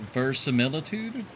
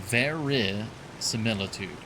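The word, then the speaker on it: verisimilitude: Is it versilitude? I'm I'm like trying to think of how it's spelled and I don't I don't remember how it's spelled. Oh, ver similitude. Okay. Not ver. Okay. Ver similitude.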